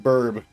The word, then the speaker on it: BRB: BRB is pronounced burb.